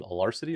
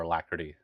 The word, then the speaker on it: alacrity: Do you pronounce it alarcity or alacrity? How do you pronounce that word? It's coming up fast. Alacrity. Alacrity. It's coming up real fast. Alacrity is right.